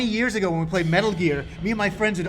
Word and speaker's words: Metal Gear: The first time I had to say Metal Gear in the game, I said Metal Gear, and they said no. You don't say it like that. And I'm like, well, how else do you say it? And they said, well, how would you say Richard Gere? And I was like, Richard Gere.